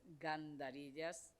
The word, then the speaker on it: Gandarillas: profesor Miguel Ángel gandarillas que lo he estado pronunciando lo mal continuamente Perdón Miguel Ángel con tu apellido pero es gandarillas Y bueno ya sabéis que él es profesor